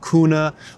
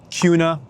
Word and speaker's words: Kuna: It looks like Kana or Kuna, but it's pronounced kind of like a Q. It's called Kuna.